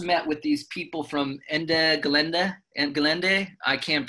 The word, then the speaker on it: Ende Gelände: I just met with these people from Ende Gelände, I can't pronounce, can somebody pronounce it for me? The Ende Gelände, you got it right.